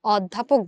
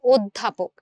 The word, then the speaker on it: অধ্যাপক: বানানে যদিও লেখা অ, ধয় জফলা আকার প, ক, অধ্যাপক, কিন্তু যখন আমি উচ্চারণ করছি তখন আমি অধ্যাপক বলছি না, বরং আমি বলছি অধ্যাপক। এই যে অধ্বনিটার উচ্চারণ ও হয়ে গেল, এই যে অধ্বনিটার উচ্চারণ ও হয়ে গেল, অধ্বনিটার উচ্চারণ কি হয়ে গেল?